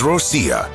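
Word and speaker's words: Россия: Finally, there is Rossiya, which, yes, is actually how Russians pronounce their homeland.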